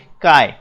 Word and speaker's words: chi: दिखाई दे रहा है, बट इस सिंबल का प्रोनाउंसिएशन है काय, और इसका स्पेलिंग अगर देखा गया तो CHI, काय इज अ सिंबल, याद रखेंगे।